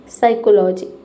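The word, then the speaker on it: psychology: तो जब किसी वर्ड में पी के बाद एस वाई, एस ए या फिर एस ई हो तो वहां पे पी लेटर साइलेंट रहता है।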